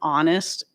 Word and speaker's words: honest: So, I said, "Do you s are you seriously telling me you pronounce the H in honest and hour and air?"